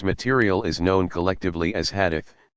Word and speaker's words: hadith: This material is known collectively as hadith, sayings or traditions, pronounced hadith.